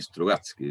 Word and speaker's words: Strugatsky: Sí, Strugatsky, lo he pronunciado bien.